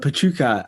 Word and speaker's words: Pecha Kucha: i haven't heard um this is spelled and how it's spelt p e c h a k u c h a yeah yeah it looks like pecha kucha which is what i was calling it for a long time until the organizers in